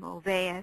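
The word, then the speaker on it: Olweus: He's from Norway and has his name Olvais. It's a little interesting pronunciation there. And he's developed a program called the Olvais Bullying Prevention Program.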